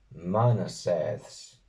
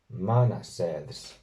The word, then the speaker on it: 𐌼𐌰𐌽𐌰𐍃𐌴𐌳𐍃: Aunque humanidad se asocia más bien a la siguiente palabra, que es Manaseths. Manaseths.